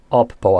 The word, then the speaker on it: Oppo: And just to clarify, I'm saying Oppo as in OPPO. For some reason, a lot of people think I'm saying Apple when I'm pronouncing that.